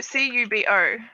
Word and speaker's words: Kubo: Wait, how do you say C-U-B-O?